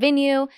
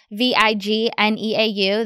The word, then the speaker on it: Vigneau: And if you don't already, follow me on Instagram and TikTok at Vigneau, Vigneau. The G is silent, yes.